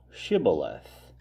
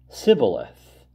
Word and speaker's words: Shibboleth: Then said they unto him, say now Shibboleth. And he said, Sibboleth, for he could not frame to pronounce right.